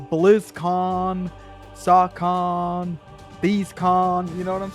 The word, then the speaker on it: SOHCON: They're like, "What is Saw Con?" And it's just the way it's spelled: SOHCON. It sounds like BlizzCon, like a convention. Saw Con, you know.